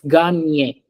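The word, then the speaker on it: gagner: Er ending verbs are pronounced a Ganio. at the end. So we say it's ganye.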